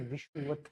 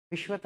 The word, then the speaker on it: विषुवत: मानकर, विषुवत equator line, सही प्रोनाउंसिएशन विषुवत है, विश्वत नहीं होती है, विषु होता है वो।